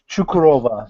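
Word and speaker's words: Çukurova: the gokkan right but everybody gets my last name wrong but which is totally fine it's chukurova the sea actually has a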